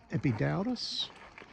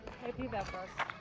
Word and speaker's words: Epidaurus: we stopped off at epid darus that's the English pronunciation epidos epidos and this theater was